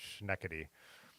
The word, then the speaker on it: Schenectady: across the country that Schenectady is pronounced schneckity and when he was